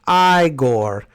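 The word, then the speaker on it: Igor: getting educated on silver the guy is pronounced I Gore Young Frankenstein was my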